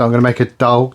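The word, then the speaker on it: dahl: So I'm going to make a doll. Is that pronounced right Vicki? A what? A dah. D a h l.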